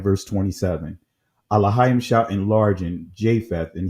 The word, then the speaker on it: Elohim: Elohim is the ancient pronunciation.